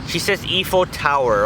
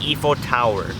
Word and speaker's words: Eiffel Tower: And she says Eiffel Tower, okay guys? She pronounces it Eiffel Tower. I told her that it's not Eiffel Tower, it's Eiffel Tower.